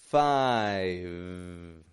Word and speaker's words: five: Five. Five. Once again, I'm not giving it a 5 or a 5. 5. I'm not doing that either. I'm only holding that V position, letting the sound fade.